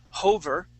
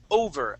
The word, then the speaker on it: over: two words here okay you had added an H sound to the word of over you said I was hover okay we want to say over over a decade older so try that please